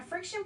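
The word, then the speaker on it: FriXion: A friction pen is awesome, y'all. This is by Pilot. It's spelled F-R-I-X-I-O-N.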